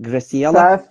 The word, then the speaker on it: Graciela: By the way, am I pronouncing correctly? Is it Graciela? Perfectly.